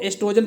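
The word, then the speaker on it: oestrogen: ये जो ओ लगा है इसे साइलेंट पढ़ते हैं, ठीक है, तो एस्ट्रोजन पढ़ा जाएगा इसे।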